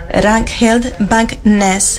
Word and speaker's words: Ragnhild Bang Nes: And I've learned how to say the name of our first speaker, Ragnhild Bang Nes.